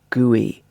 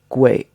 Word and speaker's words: gui: UI for example GUI if this was pronounced in the same way as an English word he might expect it to be pronounced GUI but actually it's gray so it's almost like